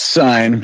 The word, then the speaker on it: Sine: He is on X, and his name is Sine. Cine, maybe I would say. Hey, what do you got to say, brother? It's Sign. I know it's an interesting way to spell it.